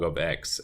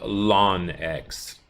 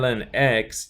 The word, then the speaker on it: ln x: of that into just Ln X and it's pronounced exactly that way you just say Ln X some people like the